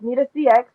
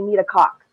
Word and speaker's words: Nita CX: I said Nita yes but yeah um it's need a CX and then I actually had a funny uh